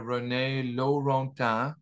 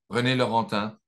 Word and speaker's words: René Laurentin: And just to briefly introduce myself, I worked for a few years with Father René Laurentin, as the American pronounce his name, René Laurentin in French, before he was a Monsignor, and before he became blind, before he passed away in 2017.